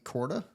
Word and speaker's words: Korda: page who said that Adam Scott and Nelly Corda is that right is that how you pronounce the last that's correct that is correct